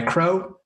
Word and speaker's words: Kreau: Well, I go by Kreau, pronounced just like the flying bird.